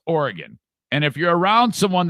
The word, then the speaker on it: Oregon: the state of oregon side note it is pronounced oregon and if you're around someone that says oregon punch them in the face okay it is not oregon it's oregon that's how you say it oregon is now